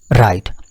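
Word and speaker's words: write: राइट। अब राइट को अगर मैं इसके साथ कंपेयर करूंगा तो मैं इसको राइट नहीं कहूंगा। डब्ल्यू का साउंड यहां पर नहीं अदा होता।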